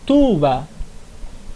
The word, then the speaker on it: tuba: gente não vai acentuar exemplo tuba tuba significa pai não precisa acentuar o u ali Ok próxima aiura aiura